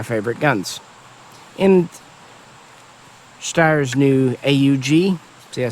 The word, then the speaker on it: AUG: And Styer's new AUG.